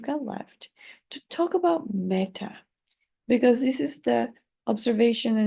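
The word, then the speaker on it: metta: it's still quite astonishing so uh it's it's spelled with two T's m e TTA a okay meta and it means loving kindness although sometimes it's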